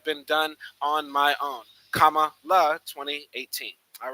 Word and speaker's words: Kamala: First, my name is pronounced Kamala, like the punctuation mark.